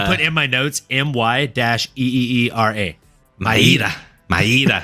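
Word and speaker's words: Mayra: to maira Bueno Silva I had been mispronouncing her name as as had most of the populace and saying Myra apologies apologies it is apparently maida Bueno Silva so put some respect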